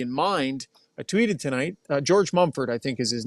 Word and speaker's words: George Mumford: because I really don't want to get his name wrong. I believe it's George Mumford. You got it. Yeah. George Mumford.